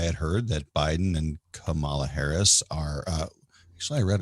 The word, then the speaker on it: Kamala: And from what I had heard, that Biden and Kamala Harris are, actually, I read it. You said her name wrong.